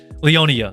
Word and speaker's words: Leonia: story from them through Leona because uh Leonia if that's I'm just calling Leona because Leonia is a bit complicated to pronounce so Leonia Leona gosh Leonia that's more proper let's go Leonia she's